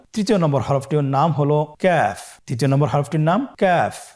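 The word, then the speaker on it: كاف: নম্বর হরফটির নাম হলো কাফ তৃতীয় নম্বর হরফটির নাম কাফ কাফ উচ্চারণের ক্ষেত্রে অবশ্যই পাতলা করে উচ্চারণ করতে হবে এবং তিন আলিফ টেনে পড়তে হবে।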